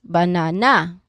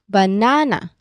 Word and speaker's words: banana: We do not say banana or banana. Okay? We say banana. So the middle syllable is our stressed syllable here.